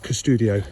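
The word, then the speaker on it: Qustodio: And I would recommend an application called Custodio, spelled with a Q, USTUDIO.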